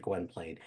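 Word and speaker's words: Gwynplaine: his kindness that he is able or that Gwen Plain, right? That's how you pronounce it. Gwenplane.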